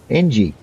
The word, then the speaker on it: Ng: a G and I said how do you pronounce an N and a G. He says how it sounds how it sounds ng.